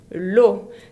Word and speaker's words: eau: L'eau se escribe E-A-U, que se pronuncia O, como ya saben.